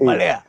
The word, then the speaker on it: Malaya: You call it Malaya. It's Malaya. Malaya. It's actually the correct pronunciation.